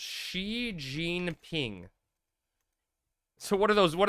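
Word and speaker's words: Xi Jinping: It's pronounced Xi Jean Ping.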